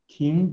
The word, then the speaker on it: Ting: Ting, they pronounce T-I-N-G. I think we should change to T-I-N-G.